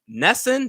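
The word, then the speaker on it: NESN: Nesson, that's the New England Sports Network. I think that's how you correctly say the acronym.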